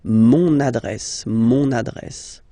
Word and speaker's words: mon adresse: address, mon adresse, okay, you can hear now this little link, so you've got to pronounce this N, mon adresse, okay, and the last